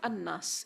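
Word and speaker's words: الناس: And this word is actually al-unas. Al-unas. But it has been eased in terms of pronunciation and turned into an-nas instead of al-unas, with the elimination of the hamza.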